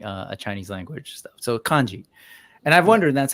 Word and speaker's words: kanji: So it's pronounced kanji.